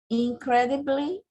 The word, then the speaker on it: incredibly: A pronúncia é incredible e incredibly. Não fala bly, não. Fala bli. Como se fosse um i mesmo. Incredibly.